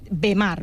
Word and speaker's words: Bemar: Vimar s'escriu B alta, E d'Espanya, M de Madrid. Ho dic perquè, clar, quan dius Vimar, la gent escriu literal. I és Bemar. Bemar, Però jo ho pronuncio com en anglès to be, no?